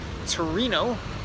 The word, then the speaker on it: Turin: good evening from Turin Italy I'm coming to you from outside the NH wing Gatto Congress hotel here in Torino or Turin as it is pronounced in English where I think we